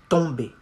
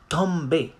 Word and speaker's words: tomber: You say laisse tomber. And not tomber. Okay? Tomber. O and M in on. Laisse tomber.